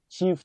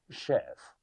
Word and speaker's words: chef: Chief or chief chef. That word is not chief. It's from French. You say chef. A chef. A chief chef.